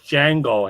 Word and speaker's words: Django: the asylum that's right the d is silent yes you have no idea how much django help you know tarantino's film helped me once that film came out you know where you know jamie foster in the d silent right right right right